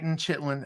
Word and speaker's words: chitin: But no, it's chitin. I should have looked up the word so I could pronounce it right for the video.